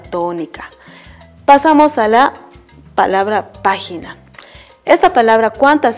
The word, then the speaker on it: página: Ahora, de las tres, ¿cuál está llevando la fuerza de voz? ¿Cuál la pronunciamos con mayor fuerza? Sí, muy bien. La pronunciamos la sílaba pa.